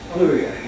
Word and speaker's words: Fleurieu: So we thought we'd come up and meet in person and have a taste of That's a new word, Fluria. Fleuriot. Fluria. That is Fluria.